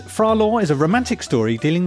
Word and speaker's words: Phra Lo: I've seen it spelled L-A-W and L-O, so some Lo kind of pronunciation. Okay. So Phra Lo, I'm going to call him Phra Lo, and I'm going to